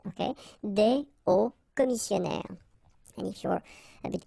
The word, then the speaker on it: hauts commissionnaires: Okay, des hauts commissionnaires. And if you're a bit careful, you can hear that un haut commissionnaire and des hauts commissionnaires, well, clearly it is pronounced the same way.